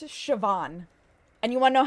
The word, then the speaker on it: Siobhan: Where's the V sound? Oh, that one I know. Aon, that one I know. That's Siobhan.